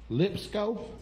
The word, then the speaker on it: Lipscomb: Oh, the B is silent?